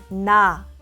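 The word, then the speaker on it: 나: na na na na to pronounce nian touch the back of your upper front teeth with the tip of your tongue make a nasal sound where the air flows through your nose na na om mean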